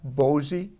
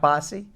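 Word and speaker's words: Boise: can you tell Brad it's bosie not bossy I don't know I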